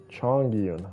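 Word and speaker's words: Chongyun: Chong Yun is how you pronounce his name.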